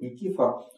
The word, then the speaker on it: Никифор: Кстати говоря, по-гречески, по-моему, Никифор. С вот таким ударением. Ну, мы привыкли говорить Никифор.